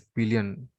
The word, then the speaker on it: pillion: He's called as pillion. Huh? Is pillion the right word? Let me say P-I-L-I-O-N. Yeah, pillion rider. Just a second. Pillion. That is how it is pronounced as.